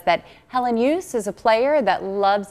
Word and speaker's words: Helenius: Helenius. I had a friend with the last name was Hellenius, but he goes by Helenius. We had to ask him, and that's exactly how he pronounced it.